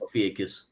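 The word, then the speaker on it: Ophiuchus: So every quarter or every three months you have now the outlier here is Aukius. A how do you say that? Aukius ofus.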